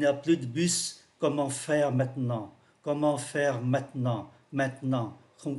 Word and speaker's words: maintenant: phát âm mạnh, và chữ maintenant cũng vậy, có ba âm tiết maintenant 1 2 3 thì chỉ còn hai thôi, và chữ bờ này cũng không còn nữa.